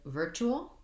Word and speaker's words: virtual: And then with virtual, same thing, first syllable stress. And again, I have this TU saying my CH sound. The IR just says the vowel the sound, so working on ver, and then chew, all. Virtual, long, short, short.